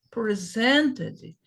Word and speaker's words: presented: Então, os verbos, eles são pronunciados na última sílaba. Ah, mas e se for no passado? Continua a mesma coisa. Presented, presented, presented.